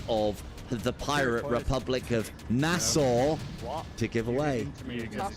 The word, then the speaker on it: Nassau: For next week Wednesday, we have 5 copies of the Pirate Republic of Nassau to give away. Nassau. Nassau, Nassau, NASA. I've heard NASA as well. Doesn't even pronounce the U.